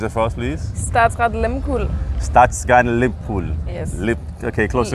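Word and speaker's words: Statsraad Lehmkuhl: She is with a Norwegian ship, and we have been struggling with the pronunciation, so can you please pronounce it for us, please? Statsrad Limpool.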